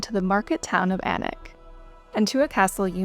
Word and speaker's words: Alnwick: And one you're very likely mispronouncing. The English love a silent consonant or two in this case.